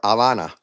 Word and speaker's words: Havana: Either way, this is the point is that Yeah, but I'm from Cuba, and there's no and the H is silent for Havana.